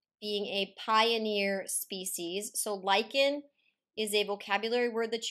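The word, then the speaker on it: lichen: talked about lyans being a pioneer species so Lykan is a vocabulary word that you've seen before not pronounced Lin Lykan is a combination of a fungus and an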